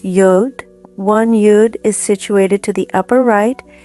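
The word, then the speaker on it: יוד: In Hebrew, the Aleph consists of two yuds, pronounced yod.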